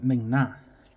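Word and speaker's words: Ming-Na: so it had some amazing, you know, and Ming Na, yeah, that's how you say it, isn't it?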